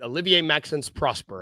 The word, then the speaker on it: Olivier-Maxence Prosper: Um, the Grizzly signed Olivia I'm probably is it Olivier Max Prosper, I believe is how you pronounce it to their final two-way spot.